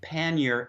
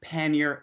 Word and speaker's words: pannier: they're very similar if you listen carefully pannier and pannier we have that slightly that we do give it that mid vowel and as a variant pannier and pannier they're almost the same sound and the reason we don't give the the French so in French would be panier but the reason we